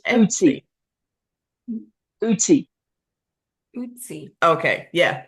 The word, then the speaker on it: Ötzi: about his name is Etsy and it's actually spelled with an O but it's a German pronunciation it's the o with the two dots over the top of it and it's pronounced I uty okay yeah it's it's